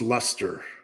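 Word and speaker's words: Leicester: what's your band's name lest sh is pronounced Lester Lester okay Lester also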